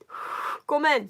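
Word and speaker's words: ごめん: Gomen, just 2 syllables.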